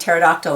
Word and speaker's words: pterodactyl: itchy see pterodactyl yep they pee is not sounded it's silent and the silent p on Ptolemy's and psychic and pterodactyl again and psoriasis q